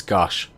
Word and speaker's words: Geas: Code It's- Gaius. I think I know what it's. I think I know how it's actually pronounced. It's Gosh. Gosh.